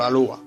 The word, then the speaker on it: Alloa: El apellido Alloa, y sobre todo pronunciado en el peculiar dialecto piamontés, como dice Hugo Alloa, estudioso del apellido, era transcrito por los castellanohablantes por Alúa.